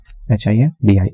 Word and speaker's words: hindi: H-I-N-D-I, Hindi. H is silent, I-N-D-I, Hindi.